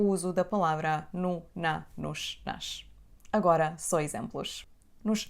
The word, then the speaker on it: nos: Essa palavra não tem o acento em cima da letra O, o que quer dizer que a letra O não é acentuada e tem o som reduzido. Pronunciamos a letra O como U, nu, e depois disso temos o som sh, nos, nos.